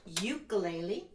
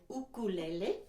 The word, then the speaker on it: ukulele: Some people say ukulele. I like to say ukulele. That's how it's pronounced in Hawaii, where this instrument originated.